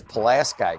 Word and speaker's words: Pulaski: And we have to decide how to pronounce that. I'm pretty sure it's Pulaski County.